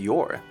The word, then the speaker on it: Yor: bubbles in dialogue he then shortened it to Yore the elsam remaining as an R sound in order to retain how it's pronounced in Japanese number 67 Frankie is based